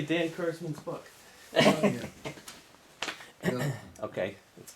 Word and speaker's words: Kurzman: Because you know my name is, they often pronounce it Kurtzman, which is. Kurzman. Right. I know better.